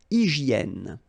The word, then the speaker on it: hygiène: H doesn't exist, H doesn't exist in French, so hygiène.